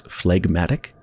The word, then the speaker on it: phlegmatic: it is or at least can be pronounced phlegmatic yeah the pronunciation I saw in the Oxford Dictionary I think it was was phlegmatic maybe it's a British pronunciation maybe if had had an H here